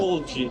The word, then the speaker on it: dolce: Dolce diye telaffuz ediliyor değil mi? Dolce. Aynen. Dolce.